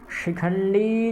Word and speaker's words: शिखंडी: काशयश्च परमेश्वासः, शिखंडी, शिखंडी ये भी तालव्य शकार है, शिखंडी च महारथः।